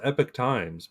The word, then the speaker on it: Epoch Times: They call themselves Epic Times, but I always thought it was Epoch. But And I always pronounced it APOC.